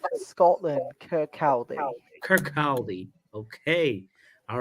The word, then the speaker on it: Kirkcaldy: Niall says, I support Wraith Rovers from, how do you pronounce that, Tommy? Kirkcaldy, 5 Scotland. Kirkcaldy.